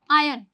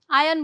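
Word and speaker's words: iron: इसे हम कहेंगे आयन। क्या बोलेंगे? आयन। ध्यान रखना आर साइलेंट है। आयन बोला जाएगा।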